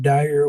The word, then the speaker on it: Dyer: with him fat boys and I got Dyer with me I guess that's how you pronounce it that's right ok and we're going